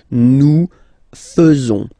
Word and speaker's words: faisons: So it's quite strange because French people tend to pronounce faisons. Okay? So like here, this AE is not pronounced like normally we should pronounce it like E, but then like E. Okay? Nous faisons. Nous faisons.